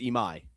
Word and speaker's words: Imai: They chose not to go after how do you pronounce this? Ima? Yes, Imai. Imai.